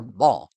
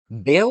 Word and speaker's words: Baal: However, because of the Israelites' name for the god, Hadad is better known as Baal or Baal, depending on the pronunciation. For us, we'll use Baal. Baal was worshipped in much of the ancient Middle East.